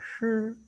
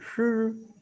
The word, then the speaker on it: shi: Ini bacanya ada shi. Juga lidah kita balik shi. Ya, nggak terlalu menjadi kesukaran. Shi. Tapi jangan sampai keliru sama yang si loh. Kalau ini si, kalau ini shi, ya beda kan?